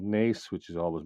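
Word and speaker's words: Naas: Dublin on the way to Cork, place called Nace, which is always mispronounced, but that's fine.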